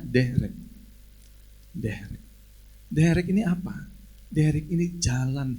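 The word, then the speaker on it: דרך: Ibrani adalah derek bahasa tulisannya derek bacanya derek ini apa dari Ini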